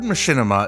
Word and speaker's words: machinima: The word machinima is a port manto of machine and cinema. Some people prefer to say machinima. I'm using machinima. Both pronunciations are totally fine.